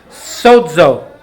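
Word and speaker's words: σώζω: for whole it is the word sozo s-o-z-o it's pronounced sodzo this same word is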